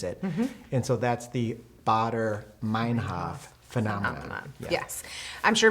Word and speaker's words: Baader-Meinhof: The Bader. I could not say it correctly. I don't know what I said in the talk, but the correct pronunciation Tell us what is it is. Baader-Meinhof.